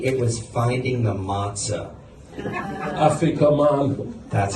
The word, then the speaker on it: afikoman: Afikoman. That's how they say it. Afikoman.